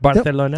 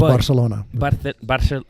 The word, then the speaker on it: Barcelona: Barcelona? Yeah, Castilian, that's what it comes out to. If you're in Catalan, of course, it's Barcelona.